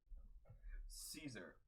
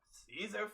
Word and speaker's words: Caesar: your character and you know I love cats Caesar Caesar flickerman oh is that how you say it's